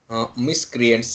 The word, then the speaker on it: miscreant: go in more deep next next is miscreant miscreants eeeh I tell you how to wire the pronunciation see we have a 1 ' here